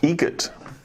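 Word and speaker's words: Eget: Egget. Spelt differently. Like the bird. That's Egret. Do you know what Adam Egert has in common with a guitar player? Adam Egget has in common with a guitar player.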